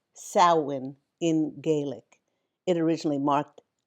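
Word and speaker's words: Samhain: Celtic festival of SA M h a n pronounced sin in Gaelic.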